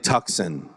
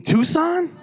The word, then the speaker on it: Tucson: you're gonna love it it's a Hyundai tuckson I go Oh tuckson okay um do you mean Tucson she was Tucson is that how you say it I'm like yeah she